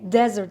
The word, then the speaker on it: desert: Desert деп оқылады, дәл осылай жазылады, просто бір ғана S болады. Ал dessert, заметьте pronunciation, да, ударение, это десерт, dessert.